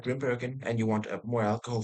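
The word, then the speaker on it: Grimbergen: Uh Grimburgen Grimburg, I would call it. Yeah, that's the the right way to say. Grimburgen for all of you scrubs.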